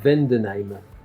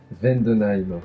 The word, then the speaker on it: Vendenheim: Vendenheim. Il le prononce bien, hein. Vendenheim.